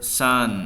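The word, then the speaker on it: Saône: Sat in cafes along the river Sun. Oh, nama sungainya juga, ini bahasa Prancis ya, dibacanya sun kayak matahari, sun.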